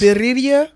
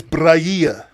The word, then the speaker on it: birria: I think it's Brahia. No, you trying to roll your tongue. Birria. It's birria. I think Birria? I think it's Birria.